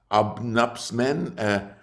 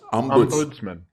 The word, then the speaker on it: ombudsman: was an obnubs what how do you call obnubsman I could never pronounce that word ombuds Ombudsman.